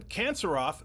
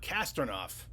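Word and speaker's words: Kantserov: Francis Morneau, 4385, said, it's Roman Kanserov, not Kastornov.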